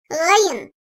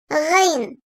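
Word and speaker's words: غين: Gayın. Boğazın ağıza en yakın olan kısmından çıkartılır. Türkçedeki yumuşak G harfine benzer. Ancak kalın seslidir. Gayın. Gayın.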